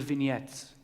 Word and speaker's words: vignette: of little stories little vignettes because the word vignettes is French and I just love to using it as often as I can it's actually one of those words that Americans pronounce correctly vignette I was as I